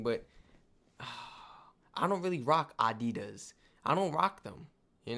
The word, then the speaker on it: Adidas: were referring to because they usually pronounce it Adidas and in Germany we say Adidas Adidas Adidas Adidas super different.